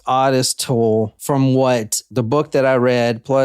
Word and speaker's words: Ottis Toole: when we're recording yeah I am it is pronounced odest toll from what the book that I read Plus